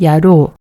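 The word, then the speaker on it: やろう: 그러면 야로, 발음은 우가 로의 영향을 받아서 장음으로 야로가 됩니다.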